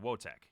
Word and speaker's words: Wojtek: Okay, so like, let's see, Wojtek. Wotek. Yeah, there you go. Or did yeah, Ethan pronounced it.